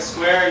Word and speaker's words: Squair: thanks as JY mentioned my name is Square yes that is the right way to say